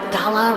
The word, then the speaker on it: gala: Isn't it weird how the word gala rhymes with voila, like a big performance reveal?